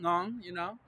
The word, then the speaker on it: Nyong'o: Lupita Nyong'o. You know what I'm saying? Ngong, Gong is the way you pronounce that, family.